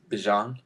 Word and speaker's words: Bijan: Well, do you know how to say Bijan Robinson? Bijan? It's Bijan.